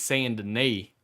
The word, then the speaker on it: Saint Denis: For these people are not of English speaking, so it's not Denis as you would say, it's Saint Denis, as in these knees need to be capped.